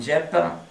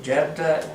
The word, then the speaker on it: Jephthah: And Jephthah, is that how you pronounce it? Jephthah?